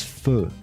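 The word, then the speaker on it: feu: know the word foo comes from the french word for fire fire which is fu f-e-u right what about what the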